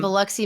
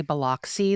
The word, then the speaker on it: Biloxi: They do pronounce Biloxi wrong. They say Biloxi the whole time. I know, it's Biloxi. like, hey, Hollywood, it's Biloxi.